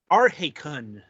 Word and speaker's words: Arhaekon: of the broadcast um up this time is Arun apparently that's how it's pronounced um right anyway putting that aside Aron